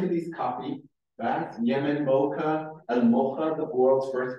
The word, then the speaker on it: Mocha: You pronounce it as Mocha. It has nothing to do with combining coffee and chocolate. That's a crime against our culture.